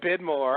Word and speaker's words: Widmore: together I guess um oh you said vidmore I thought you said I thought you said vidmore vidmore that's the German version oh yeah um my